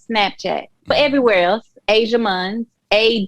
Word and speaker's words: Ajia Munns: snapchat but everywhere else asia muns a j i a m u n n s it's pronounced like the continent but not spelled that way so okay um and